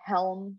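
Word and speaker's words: Chełm: So we flew into Warsaw and then we drove to Helm, Poland. It's spelled Kelm.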